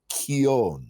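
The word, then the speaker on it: quillon: not bell quillian and it's pronounced it's a Spanish word and it's pronounced keown okay so is that the one with that's not looking sheath scabbard no it's key on this it means with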